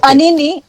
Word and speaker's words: Anini: about 438 votes so that that pronunciation is correct yes that's correct it's anini anini mopi Miu mopi Miu